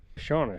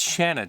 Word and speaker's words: Shanna: Shauna, she says that It's Shanna, Trinity. Come on, buddy. I know you're not feeling good, but it's Shanna. Rhymes with banana.